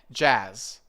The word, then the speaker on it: jazz: More of a longer ah sound, jazz. Jazz. Yes, that's better. So, it's not just a sharp ah, it's more relaxed like all the English vowels.